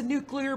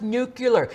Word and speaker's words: nuclear: my god it's a nuclear bomb do you think someone's would be like it's not pronounced nucular its nuclear as the as the